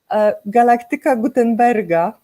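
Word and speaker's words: Galaktyka Gutenberga: But it's how do you pronounce in Polish? Galactica Gutenberga.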